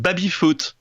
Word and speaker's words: baby-foot: What is called baby-foot in French.